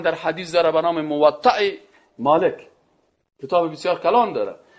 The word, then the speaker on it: موطأ: بعضیا موطا میگن و چی میگن و غلط است. موطأ همین قسم تلفظ درستش اینا او موطأ مالک است.